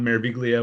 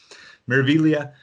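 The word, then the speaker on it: Meraviglia: spectacular i've been on mareviglio which is beautiful i know i keep pronouncing it wrong i don't know why in italian at g is silent it doesn't make sense to me but miravillia uh gorgeous ship harmonia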